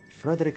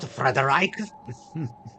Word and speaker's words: Frederick: It's Frederick Frankenstein. Frederick. Frederick Frankenstein. Oh, so it's not Frederich.